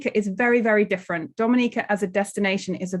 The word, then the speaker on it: Dominica: we call it Dominica foreign it is not Dominican Republic it is pronounced Dominica and is situated between Guadalupe and